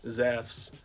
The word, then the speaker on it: Zeus: is how you would pronounce it in modern Greek so if you ever hear me Brian to Zeus and I use the name zephs that is what is going on they're gonna people are